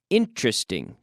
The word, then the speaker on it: interesting: to be an interesting interesting three syllables interesting we don't normally say we don't say interesting interesting it's going